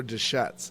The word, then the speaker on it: Deschutes: Now, is it Deschutes or Deschutes?